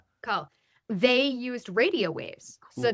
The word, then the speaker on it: Coeurl: this is based on that, how do you pronounce it? The cool the call the call. Yeah, call.